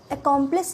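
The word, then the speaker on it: accomplice: एक परिसर दूसरा है इसकी स्पेलिंग डिफरेंट है बट प्रनंसीएशन से है अकांप्लिश का मतलब होता है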